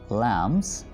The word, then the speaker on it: lambs: The little lambs, यहाँ पर हम B प्रोनाउंस नहीं करेंगे, ठीक है, ये B यहाँ पर साइलेंट है.